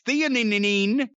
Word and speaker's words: theanine: I don't know how to pronounce that. And nano CBD. It's theanine, but it helps you sleep.